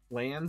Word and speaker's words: LANs: LANs and WANs, that's how we pronounce it. Not lanes and wanes, but LANs and WANs.